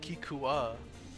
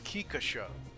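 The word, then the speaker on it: Kikka Sho: So, I always call it Kikua, but it's Kikasho.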